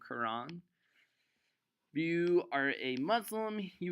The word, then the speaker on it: Quran: you wanna spell it it's the Qur aan or the kor aan it's pronounced the same Quran you are a Muslim